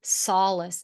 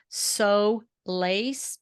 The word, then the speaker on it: solace: on in your life the pronunciation just like you did is Solace and I think a common mispronunciation of the word would be so laced because if you break